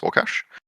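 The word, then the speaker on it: Łukasz: Um, uh, his his actual name is I think it's pronounced Warcash. Um, looks like it's spelled Lucas, but it's pronounced Wash cuz he's Polish.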